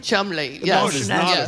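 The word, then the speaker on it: Cholmondeley: Chumley. Chumley. Chumley. Well, you know Molio. That's not how you pronounce it.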